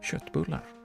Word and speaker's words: köttbullar: That's how it's pronounced, köttbullar.